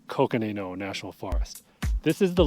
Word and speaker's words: Coconino: National Forest in northern Arizona I've heard it pronounced coino welcome to the thank you sir Sean connory but I'm pretty sure it's Coconino National Forest this is the largest contiguous Ponderosa